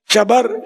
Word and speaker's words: شبر: رائج شبر اور شبیر، اعلیٰ حضرت نے اس کا تلفظ ہی بیان کیا، شبر، شبیر، مشبر۔